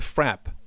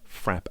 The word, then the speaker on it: frappe: Janelle says the frap as in trap. Mhm. A. It's frapp.